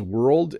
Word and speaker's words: world: Is world and word hard to pronounce? No, not for me, but for someone learning English, it's hard to roll the R into the L into the D with world.